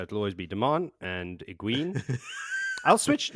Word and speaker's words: Egwene: Oh, you've switched to Egwene. Well, I'm trying to phase in all the, proper pronunciations. I will definitely slip back into Egwene within the first couple of minutes of her actually entering the scene again. So you're going Egwene? I'm going to try.